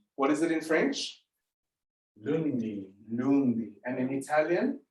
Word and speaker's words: lundi: It's Lundi.